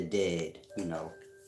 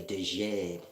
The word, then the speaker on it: Djed: To be in the dead. DJED. Dead. Dead. J's is silent, baby. If you like Hebrew, comedics, science, you grasp that. Y'all say Dejed. J's was silent. It's dead.